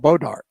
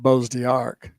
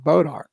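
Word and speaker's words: Bois d'Arc: It's not Bose Arc. What? B O I S D A R is not pronounced Bose Arc. It's proned pronounced Bodark. It's a French name just like her.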